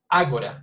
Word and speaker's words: Agora: Agora, you see, so Agora would be here because the accent, I know, actually would be here because it's 3 syllables and the stress is at the beginning, Agora, you see?